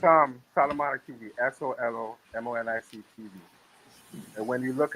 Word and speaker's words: Solomonic: And you'll see the same avatar up on up on How do you pronounce that? Solomonic TV.